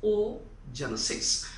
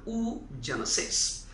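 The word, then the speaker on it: oogenesis: last hiva come across oh genesis or you can pronounce it as an ooh genesis followed by that so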